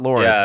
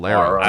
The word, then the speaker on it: Lara: game they say it's not Laura it's not Laura it's Lara really when I was streaming it I was